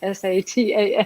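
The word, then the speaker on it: seitan: And when you said what you were making, it spelled Satan, S-A-T-A-N. Yeah, of course. I pronounce it Satan.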